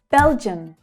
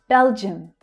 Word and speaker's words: Belgium: The stress is on the first syllable. Bel, bel is the strongest sound. And the I and the U create the unstressed vowel sound, the schwa, in the second syllable.